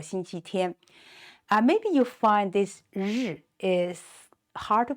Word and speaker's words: 日: Maybe you find this 日 is hard to pronounce. Actually, just, rolled up your tongue, as in the English word pleasure, that 日 sound.